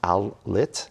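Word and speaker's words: ILLIT: bit tough to pronounce Outlet apparently it is a combination of Isle and lit I think I'm gonna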